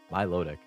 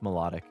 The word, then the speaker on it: Milotic: how about over here as a kid I read been IC as Milotic Milotic Milotic so you like pronounced each part of it my loic I always go with melodic want to rest for